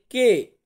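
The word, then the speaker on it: Q: পি কিন্তু আবার ঠিকঠাক আছে, পি কে আমরা ইংরেজিতেও বলি পি, আর ইতালিয়ান উচ্চারণ হবে পি।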